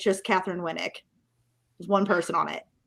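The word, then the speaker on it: Katheryn Winnick: Yeah, no, you said something else, but it's Catherine Winnick from Vikings, yeah. Yeah. I thought I said Catherine Winnick. No, you mispronounced her name.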